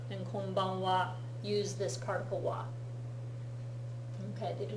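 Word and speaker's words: は: Okay, so konnichiwa and konbanwa use this particle wa. Okay, they do not get spelled with that wa.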